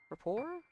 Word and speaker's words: rapport: The T is silent and report. Rapport?